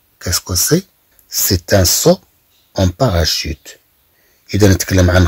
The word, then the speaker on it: saut: للإشارة هنا كلمة سو أن تنطق مثلها مثل كلمة سو، يعني تنقول السطل يعني الدلو السطل، ولكن الكتابة تختلف.